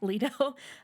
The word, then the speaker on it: Leto: We meet what did we decide? Leto or Leto? Leto.